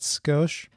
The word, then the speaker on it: Scosche: to point out is the name of the company it's ghost you pronounce that skosh and this is for